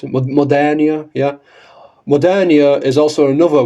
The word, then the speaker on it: Modernia: I know Modernia's, if it's Modernia, is that how you pronounce it? Modernia, yeah.